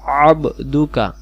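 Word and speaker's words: عَبْدُكَ: লিখে দিয়েছি খলাকতানি আনা আবদুকা এইটা হলো আইন অক্ষর গলা লাগবো আবদুকা আপনি আমাকে সৃষ্টি করেছেন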